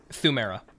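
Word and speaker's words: Pthumeru: Thumera. Oh. Yeah, the P is silent.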